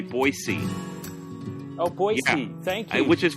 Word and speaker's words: Boise: Boise Idaho and they want you to say Boise oh boy which is P because it's it